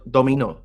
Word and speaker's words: dominó: Dominó, se dice así, ¿no?